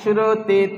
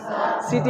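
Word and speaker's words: ثا: নুক্তা হলে তা, একই সুরতে 3 হরফ, উপরে 3 নুক্তা হলে সা, উপরে 3 নুক্তা হলে সা, সাটা তোতলা ভাব, জিভের ডগা নিচে দাঁতের গোড়ায় লাগাতে হবে, আর উপরের দাঁতের কিনারাটা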